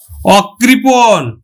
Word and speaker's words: অকৃপণ: শিক্ষার্থী বন্ধু এইখানেও কিন্তু ব্যতিক্রম আছে, নেতিবাচক অর্থে অ কিন্তু আবার বিবৃত উচ্চারণ হবে, অর্থাৎ অ এর মতোই উচ্চারিত হবে। যেমন দেখো অকৃপণ, অকৃপণ, তাহলে দেখো এই